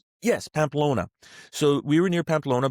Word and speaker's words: Pamplona: How do you say Pmplon? Pamplona. The running of the bulls. Yes. Pamplona.